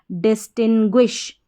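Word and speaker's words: distinguish: जी यू आई एस एच ग्विश तो पूरी spelling बन गई डिस्टिंग्विश डिस्टिंग्विश इसका अर्थ होता है हिंदी में अंतर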